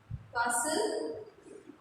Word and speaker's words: castle: Then fifth, castle. Do not pronounce T.